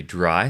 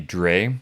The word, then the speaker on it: drei: By the way, in my other video, I pronounced it React 3 Dre. I apologize for that. It's actually pronounced dry. and dry is actually the number 3 in German.